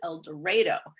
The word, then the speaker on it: El Dorado: it sounds strange in el dorado they actually pronounce it el dorado it takes a long time to get used